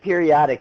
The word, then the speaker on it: periodic acid: So you would call it periodic acid. It does. It looks like periodic acid, but it's periodic is how you pronounce it.